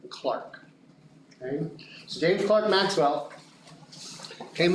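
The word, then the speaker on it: Clerk: grow a beard James Clark Maxwell I know I know I know how it's spelled okay but I'm using the correct pronunciation he was scotish right and in Scotland you pronounce that word Clark okay so James Maxwell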